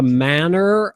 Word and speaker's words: manner: When you were saying the manner of people, try to hit that R. That's the North American pronunciation of manner.